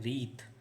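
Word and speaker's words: wreath: तो उसे कहा जाता है रीथ। इसे आप ध्यान रखें, प्रोनाउंसिएशन रीथ था है, रीथ पढ़ेंगे इसे अपन।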